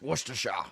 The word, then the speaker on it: Worcestershire: So it's pronounced Worcestershire.